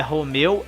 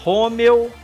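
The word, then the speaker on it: Romeo: Quebec, Romeu, não é Romeu, é Romeu, Sierra, Tango, Uniforme, Victor, Whisky, X-Ray, Yankee e Zulu.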